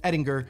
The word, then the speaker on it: Edinger: My father had always pronounced the name Edinger, as it is of Germanic origin, and I'd always just pronounced it Edinger to go against that, just to be different. It is traditionally pronounced Edinger.